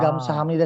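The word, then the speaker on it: 감사합니다: Kayak Gamsa Hamnida sendiri kan tulisannya Gamsa Habnida, bukan Gamsa pakai mim tapi pakai biep gitu.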